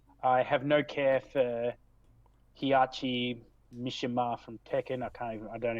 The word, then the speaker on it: Heihachi: I have no care for Hiyachi Mishima from Tekken. I don't even remember how to pronounce his name. Oh, Heihachi, yeah, right.